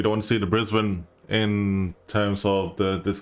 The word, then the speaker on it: Brisbane: Um, but uh it's pronounced Brisbane, folks, not Brisbane. If I swear, I swear, guys, if it's like this is not the DC Universe, just pour it out there. Okay, it's Brisbane.